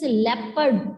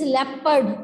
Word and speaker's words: leopard: hands and only stand its pronunciation is leopard all of you speak this word five times it is leopard l-e-o-p-a-r-d others also listen and pronounce this word correctly okay now speak better